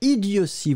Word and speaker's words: idiotie: Idiotie. Hein, on prononce vraiment si.